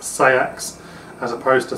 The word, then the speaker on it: seax: sax itself and that's how it would be pronounced say acts as opposed to sacks which it's like sort of felt like all